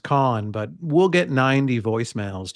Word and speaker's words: Kahan: camera at the Noah Kahan concert whoever that is is it Kahan or or Khan uh it's spelled Kahan K A ha an I always thought it was pronounced con but we'll get 90